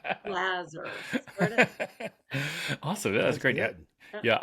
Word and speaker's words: Laser: He's a big jazz pianist, and so I said, Jazzer rhymes with Jazzer, Lazar.